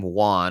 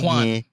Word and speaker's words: Juan: so much is that my name Juan also sounds like check one two one I used to get that all the time check one check to I mean pronounce Juan but you know Americans